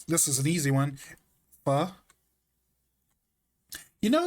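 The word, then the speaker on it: phở: F. You know, like it's spelled um it's spelled ph, but it's pronounced like f.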